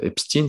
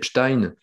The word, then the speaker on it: Epstein: avec la fameuse affaire obstine ça se prononce comme ça d'autres disaient stein donc voilà on l'a prononce obstine c'est toute une histoire de